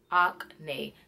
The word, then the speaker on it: Acne: acne acne studios acne so it is not like acne like you got acne or you face acne studios no is op nae acne Ock nay very it was like you saying acne babuji like yes I have acne okay acne